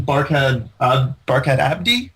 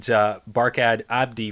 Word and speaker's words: Barkhad Abdi: And I think that there's some other great names in this, like even Barkhad Abdi.